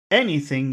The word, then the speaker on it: anything: where's the that has two syllables which syllable has all of the Power anything any which syllable has all of the Power e e okay anything you say Okay anything